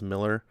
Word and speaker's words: Millar: I call him Millar I know his name is pronounced Miller but there's other Miller's